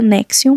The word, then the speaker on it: NXIVM: que conhecemos hoje anexo a gente pronuncia nexion mas é escrito NX I VM em um relato citado